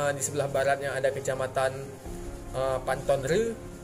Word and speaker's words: Pante Ceureumen: Jadi kalau di utara itu ada Kecamatan Sungai Mas, kemudian di sebelah baratnya ada Kecamatan Pantonre, tulisannya REU, Pantonre, bacanya REU.